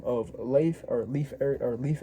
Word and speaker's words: Leif: So he ends up going or Leif Ericson, how you pronounce I should say Leaf even though it's not Leaf.